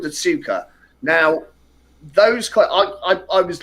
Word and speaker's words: Tsuka: Has anybody seen I pronounce it Tsuka, TSUKA coils, and they've got a ribbon wire wrap.